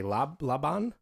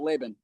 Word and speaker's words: Laban: Laban? They do that. That's one of them. Hmm. Laban, Laban, everything but Laban.